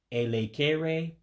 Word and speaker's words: elekere: Then the next word is elekere, which means hour on the clock, or you can say o'clock, same thing. And remember those E's you pronounce as an A.